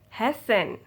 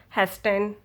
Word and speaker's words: hasten: soften often fasten listen hessen okay now so you cannot hear rt i do not say it soften often fasten listen hasten no you don't ever say tea tea will be silent you don't ever say